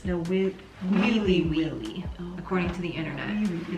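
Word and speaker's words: Nawiliwili: No Willy Willy. I looked up the pronunciation, 1031. Okay. It's no Willy Willy with E's. No Wheelie Wheelie, Oh, according to the internet.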